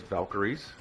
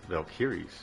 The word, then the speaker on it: Valkyrie: transport jets known as valkyis. Most of you would have pronounced that as valkyries but my mom is German and she has taught me that it is valkyis.